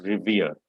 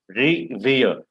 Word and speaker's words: revere: respect means revere and this is how you pronounce revere ri dash v-e-e-r revere so the stress is on rear so revere